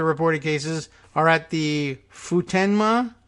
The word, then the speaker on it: Futenma: cases are at the Futenma Futenma under how you pronounce it fut en ma Futenma Marine Air Station another